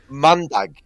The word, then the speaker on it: mandag: So, Monday? It's mandag.